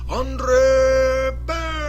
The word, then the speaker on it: Andre Berto: this last week against Andre Berto. See, that's like a way better name to say if you're Bruce Buffer, the announcer guy. Andre Berto. See, you got to really roll that R if you can.